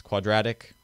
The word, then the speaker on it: quadratic: to be about now the stressed syllable of quadratic could be rat a rat is a quadraped so it makes sense quadratic quad rat now since x is